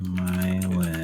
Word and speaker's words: myelin: I presume that it's an eh sound now that we know that it's pronounced myelin.